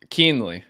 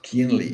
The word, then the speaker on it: Kuehnle: pronounce the surname surname keenly it's a lot easier than it looks keenly yeah nice nice I